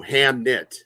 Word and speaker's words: Hamnet: Hamnet. That's how it's spelled.